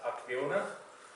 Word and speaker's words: Acciona: So ourselves as a Acciona, it's actually pronounced as Acciona.